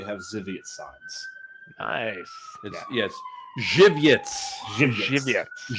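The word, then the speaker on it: Żywiec: Jiviets. Right. That's how to pronounce it. Jiviets. Yes. Kind of rhymes with giblets.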